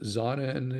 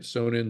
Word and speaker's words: Sonnen: But I know that Sonnen is doing it, Sonnen, Sonnen, however you want to pronounce it. They changed to the German pronunciation in America as a Sonnen.